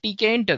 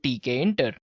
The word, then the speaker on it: Tkinter: QT we have WX Python and we have TK enter guys yes it's spelled as TK enter right so it's t